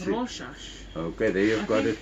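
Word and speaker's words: Rorschach: as R what do you how do you pronounce it rash okay there you've got it thanks rash uh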